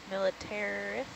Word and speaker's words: militaris: Militaris? Yeah, yeah, that's right. I think I pronounced it right.